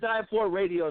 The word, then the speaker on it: Die4 Radio: It's Die4 Radio, the Mad 4 Report.